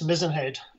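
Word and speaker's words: Mizen Head: do you pronounce it mizzenhead yes mizenhead just like the mast on the ship okay i understand there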